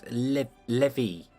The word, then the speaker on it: levee: It's levee. I don't know why I say leave. I don't know where I've got the name leave from. But it's levee.